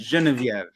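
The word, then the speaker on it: Geneviève: genevieve genevieve and frank i said it wrong let's just stick with the french genevieve hey gabe are you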